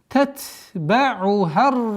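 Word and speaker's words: تتبعها: Татба'ухар радифа. Тат, нет, мягкое произношение. Тат, с выделением свойства фрикативности.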